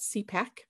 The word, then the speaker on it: CPAC: We pronounce that CPAC.